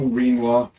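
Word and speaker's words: Rinoa: Come on, Renoa. Or Renoir, if you want to pronounce her name like quinoa.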